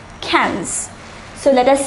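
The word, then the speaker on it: quinze: 15 is pronounced as cans the pronunciation is different from the spelling it is pronounced similar to the English word cans cans so let us say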